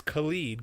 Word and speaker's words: Khalid: How you pronounce it? That sounds about right. Yeah. But it's Khalid, Khalid.